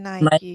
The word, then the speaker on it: Nike: Nike. Second hint ya. Kak Gangsar langsung jawab Nike. Is it right? Just guess. Kenapa kok bisa yakin ini Nike?